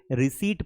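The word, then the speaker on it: receipt: लेकिन इसको रिसीप्ट अगर आप पढ़ोगे तो आपको लोग हसेंगे क्योंकि इसे रिसीप्ट पढ़ा जाता है क्योंकि यहां पर ये पीस साइलेंट है।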